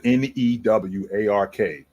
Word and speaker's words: Newark: and your family good over there I'm from Newark New Jersey and that Wildfire got us effed up over here for those of y'all that are that are not aware so it's spelled n-e-w-a-r-k which is pronounced Newark but if you're from